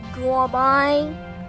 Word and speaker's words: gourmet: It's pronounced gourmet.